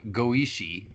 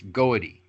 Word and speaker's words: goety: from the word goety, which is not goishi, it's goety. Goety is the root word.